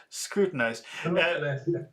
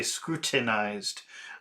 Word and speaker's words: scrutinized: In in a lot of places in the UK, they will pronounce a very strong T and they will say scrutinized. But I have a North American I have a North American accent and instead of pronouncing a T, I do a little cough. I say scrutinized it. Scrut scrut scrutinized it. They they they call it the the glass tea.